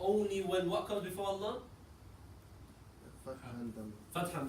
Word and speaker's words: Allah: The lam is only pronounced heavy in Allah when fatha and dhamma come before it.